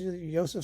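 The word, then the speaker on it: Josef: waltzes and let's see Joseph so is yoseph so pronounce it however you want um is is involved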